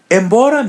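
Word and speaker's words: embora: Embra means out or away. So try to pronounce it. Embra letter M is pronounced as a light N.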